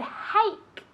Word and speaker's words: hake: Hake. Hake. Okay, like hey, hake, with a K at the end, okay?